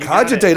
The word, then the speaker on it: Cogitate: I don't even know how to pronounce it. Cogitate? Cogitate. Cogitate.